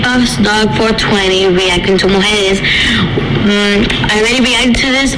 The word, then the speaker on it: Mujeres: This is Mujeres. I hope I said that right. Mujeres. Mozart, LaCara. Justin. For the record, it's pronounced Mujeres, meaning women.